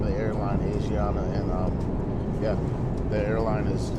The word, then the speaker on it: Asiana: So at first I thought I was pronouncing this airline wrong by calling it Asiana, and because the spelling is like Asian. So, but when she introduced the airline to us, she said Asiana.